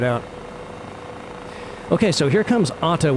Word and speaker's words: Odda: Okay, so here comes Odda, which is spelled O D D A, but I saw a video of a local guy that was touring it, and it sounded more like he was saying Odda.